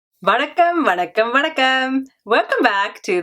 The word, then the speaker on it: Vanakkam: So hello or hi in Tamil is Vanakkam, Vanakkam, Vanakkam, Vanakkam.